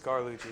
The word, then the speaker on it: Carlucci: It's Carlucci, yeah. But no T. No T.